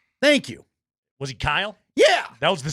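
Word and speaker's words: Kiel: If I told you a guy's name was spelled K I E L, what pronunciation are you giving me? Keel. Thank you. Was he Kyle?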